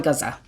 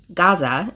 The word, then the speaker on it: Gaza: that it's not pronounced Gaza, it's pronounced gaza. Like, it's not we put the we put like an accent in there that doesn't actually belong there.